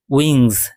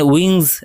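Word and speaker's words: wings: এখানে উইংস ডানাগুলি প্লুরালে রয়েছে। তো এটা নাউন। তো একে কোয়ালিফাই করছে কে? ডেলিকেট। তাই ডেলিকেট এডজেক্টিভ। আর এখানে কিন্তু এস এর উচ্চারণ অনেকটা জেড এর মত হবে।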